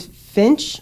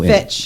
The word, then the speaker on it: Fitch: But apparently Abbercrombie and Finch or Fitch. Fitch. No. Fitch. Yes. Okay. It rhymes with Twitch.